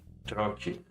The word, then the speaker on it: trochee: Trochee, Troki. trochee, I can do the T a little bit softer as they do.